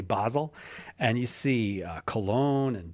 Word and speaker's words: Basel: and we start in Amsterdam and end in Basel or Basel or Basel. I'm not sure. I guess it depends on where you are, how you pronounce that one, but I'm going to say Basel.